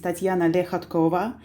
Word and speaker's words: Lehatkova: mikhail uh hello uh everybody my name is tatiana lehatkova and you pronounced it almost correctly better than the most of russians okay leshatkova lehatkova i did it i did it i'm so